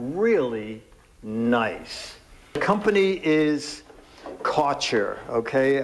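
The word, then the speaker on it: Kärcher: nice the company is CER okay I'm saying CA because it's spelled like Archer with a K in front of it and this guy weighs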